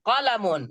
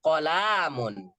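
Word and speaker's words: قَلَمٌ: Hadza qalamun. Nggak boleh hadza qalamun. Nggak boleh dibaca lamnya panjang.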